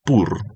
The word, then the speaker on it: Pur: La palabra pur, que quiero repetirle una vez más, la traduce aún la Reina Valera de la misma forma, como se escribe p U pur, que significa suerte, que significa purim también.